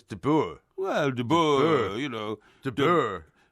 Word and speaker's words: de Boer: Yeah, but it's not pronounced de Boer, is it? It is. It's de Boer.